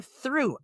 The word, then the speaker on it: through: Like a child takes a test, goes, teacher, I'm through. I'm finished. When you're breaking up with somebody, you and me, we are through. Got it? Through. THROUGH. Through. Rhymes with blue.